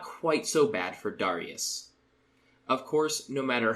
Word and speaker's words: Darius: English speakers say it darus daras daras classical Latin would have been Darius and easily elides back into Darius if you're not thinking